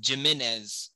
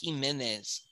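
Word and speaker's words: Jiménez: Sorry, for a lot of you gringos, that's Jimenez, but it's pronounced Jimenez.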